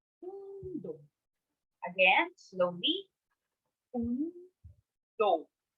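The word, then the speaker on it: 運動: So notice how I also pronounce the do longer because do is followed by a vowel u, which makes the sound or the mora or the syllable longer than the usual.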